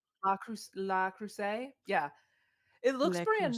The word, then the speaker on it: Le Creuset: But it's the I don't know how you say it, Le Creuset. La Creuset?